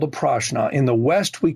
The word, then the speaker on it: prashna: Now, in India, that is referred to as prashna. Prashna, spelled with a P, is divinational.